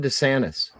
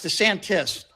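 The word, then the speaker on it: DeSantis: your problem with Ron Dantis uh it's the Santis it's the Santis so let's say answer the question okay okay I am but just try to pronounce his name right so what is my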